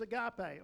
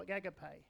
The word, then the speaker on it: agape: And there's agape, or agape, depends on how you wish to pronounce it.